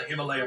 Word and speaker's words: Himalaya: Way I figure it, we're somewhere in the Himalayas mountains. That's pronounced Himalaya.